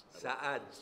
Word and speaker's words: Saad: May I ask you just to pronounce my name, Saad, because I'm not sad.